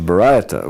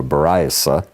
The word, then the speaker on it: Baraita: Yeah, a Baraita. Well, he's translating Ashkenazi Hebrew here. I would say it's Sephardic, but Baraita, instead of a Baraisa, it's a Baraita, okay?